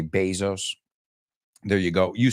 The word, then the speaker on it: Bezos: But this is really interesting, the Amazon, because Jeff Bezos, you say Bezos, we say Bezos.